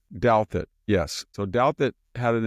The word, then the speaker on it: Douthat: How do you pronounce Ross's last name? Ross Douthat. Douthat, yes.